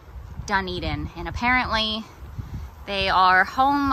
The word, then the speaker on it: Dunedin: this several times i probably would have called it dun dun dun dun welcome to dunedin that's what i yeah that's definitely how i would have pronounced it but i think it is dunedin and apparently they are